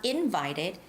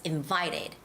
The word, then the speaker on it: invited: the words like invited it has the second syllable stress it's not invited it's invited invited invited okay and the